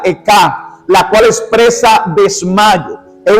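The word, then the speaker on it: אֵיכָה: Esa palabra dice que esa palabra como en hebreo se pronuncia Eka, la cual expresa desmayo.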